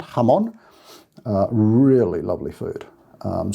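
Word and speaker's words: jamón: ham in spain jamon so it's spelt j a m o n but of course the j is an h sound ham on uh really lovely food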